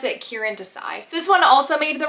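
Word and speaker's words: Kiran Desai: of Sonia and Sunny by, I think it's Kieran Desai is how you pronounce it. I have it on my TBR, let me see. Kieran. I think you pronounce it Kieran Desai.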